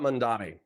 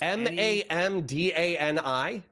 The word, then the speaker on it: Mamdani: Oh, so yeah, the sentence about Mandani. So Mamdani said, Mamdani. What the fuck? You guys can't fucking pronounce Mamdani. Mamdani. Yes, Mamdani. Okay, so what I said, mom instead of man.